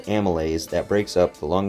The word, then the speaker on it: amylase: can English you know Amy lays I can you know break it up and tell you it's amylase but anyway continuing that's